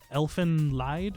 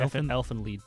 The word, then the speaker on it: Elfen Lied: have seen this, but Elfen Lied, or Elfin Lead. Elfen Yeah. Lied. Yeah, I never pronounced that correctly on the first try.